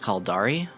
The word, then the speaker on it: Caldari: as i am aware they are pronounced khaldari minmatar amar and galente the kaldari and galente